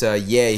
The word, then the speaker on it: Ye: Well, it's not Kanye on the poster. It's Ye. He changed it probably because he didn't have time for the full thing. Save the extra syllable. His name's just Ye now? Yeah, it's just Ye. Like if Madonna was just nah.